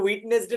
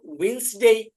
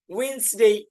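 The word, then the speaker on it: Wednesday: আমরা ইনশাল্লাহ পড়বো এটা উইটনেস ডে না ঠিক আছে ডি এখানে সাইলেন্ট হবে এজন্য আমরা পড়বো উইনসডে উইনসডে ঠিক এরকম ভাবে পড়বো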